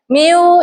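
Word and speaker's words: μ: Kalau permukaannya gini berarti gaya miu ini dibacanya miu kayak gini tulisannya.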